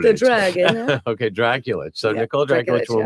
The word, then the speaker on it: Drakulich: Drakulich. The dragon. Okay, Drakulich.